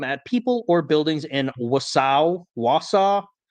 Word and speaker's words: Wausau: people or buildings in Wausau. I kept wanting to say Warsaw, but that's not how you pronounce that.